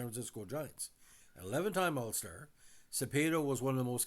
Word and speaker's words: Cepeda: Now, Orlando Manuel Cepeda Pines, Cepeda, pronounced in the normal Spanish, was a Puerto Rican